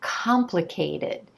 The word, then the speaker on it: complicated: I can see that the emphasis is on the first syllable. The first syllable is the stressed syllable, and the vowel sound at the core of this syllable is the ah as in olive.